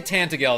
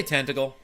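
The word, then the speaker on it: Tantegel: was Tentacle Castle because the way he pronounced it. And then I read it and I was like, "Oh, he's just pronouncing it the way they say it." If you say Tantagel, that's that's that's how you know. That's how they know that you're not from around there. We say Tentacle.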